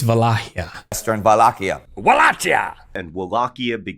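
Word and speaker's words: Wallachia: It's not Wleakia, it's Walakia.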